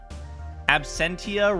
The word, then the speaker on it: Absentia: wallet at all times Absentia rhymes with dementia you're not wrong Absentia